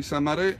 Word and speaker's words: Samarè: Sa Quindi è nato mare, ci ha messo un Samarè, accento, abbiamo via. messo un accento su.